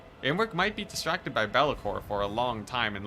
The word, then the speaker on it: Be'lakor: Now, for the Be'lakor, there we go, saying it right.